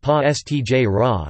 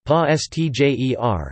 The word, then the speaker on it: Pastiera: Pastiera napolitana, pronounced pa stj ra, Neapolitan, pa stjer, is a type of